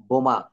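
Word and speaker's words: bomb: মানে হচ্ছে বোমা কিন্তু এখানে আমরা বম্ব কখনো বলি না আমরা বলি বম বি ও এম এই বি পর্যন্ত আমাদের আর যাওয়া লাগে না শেষের যে বি রয়েছে এই বি টা কিন্তু উচ্চারণ করা যাবে না কেন যাবে না কারণ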